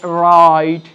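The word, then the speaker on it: write: একইভাবে ডাব্লিউ এখানে আমরা দেখছি যে নীরব রয়েছে বা চুপ রয়েছে, সুতরাং এটাকে বাদ দিয়ে আমরা উচ্চারিত করব অ্যান্সার, সোল্ড, এখানে রাইট, এখানে রং, ডাব্লিউটা এখানে সাইলেন্ট থাকবে।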